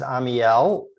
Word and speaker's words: Amiel: And my name is Amiel. People often ask, how do you pronounce it? It's 3 syllables.